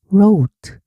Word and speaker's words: wrote: wrote 썼다. 자, 원래 모습은 wr다. 그런데 과거가 되니까 I가 o로 바뀌었어. 그래서 wrote wrote 썼다. 여기서 W는 발음이 안 나요.